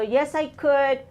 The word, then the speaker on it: could: ago perfect look this one confuses us because of the L the L is silent so yes I could no I couldn't okay